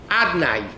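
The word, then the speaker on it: Adonai: Hashem's name is written Yud Kei Vav Kei. Correct? Yud Kei Vav Kei. But we don't pronounce it Yud Kei Vav Kei. We pronounce it Adnai. Right? Adnai is the way we pronounce it.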